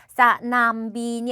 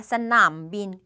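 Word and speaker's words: สนามบิน: 중자음의 생음이니까 평성 요렇게 싸남빈이 아니라 싸남빈 요렇게 남 사성으로 발음을 해주셔야 된다는 말이에요.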